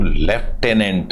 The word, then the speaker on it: lieutenant: इस LIEUTENANT, इसको लेफ्टिनेंट इसका नाम है, बोलते हैं इसको लेफ्टिनेंट भी हैं।